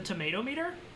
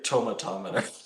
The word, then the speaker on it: tomatometer: The tomato meter? Fresh or rotten? I say tomatometer. Oh. Come on, Jack. You know what it is. Like thermometer. No, it's the tomato meter. Tomatometer. No. It's the tomatometer.